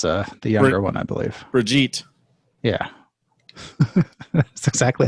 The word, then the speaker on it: Brigitte: Brigitte.